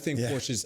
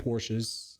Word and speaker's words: Porsche: So, if you were to have a Porsche I think Porsche's the best super car.